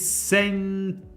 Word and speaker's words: 洗濯機: See, again, when she pronounces the U is, the sound of the U is almost completely gone. You can barely hear the U. It's there, but it's not really there.